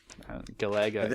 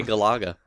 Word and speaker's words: Galaga: Galaga, yeah. Bill says lots of things funny. I just roll with it. I think you're putting the emphasis on the wrong syllable. I've heard people say Galaga.